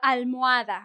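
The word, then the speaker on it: almohada: Uh, al- muada, right? Pillow. I'm not pronouncing the H.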